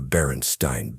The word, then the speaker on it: Berenstain: What about the Berenstain Bears? Spelled like Einstein. No, it's Berenstain. With an A.